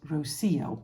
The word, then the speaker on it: Rocío: cardigan is called Rosio last week I was wondering how to pronounce it roio roio Rosio and uh a friend of mine um well she could tell me it was Rosio and it means do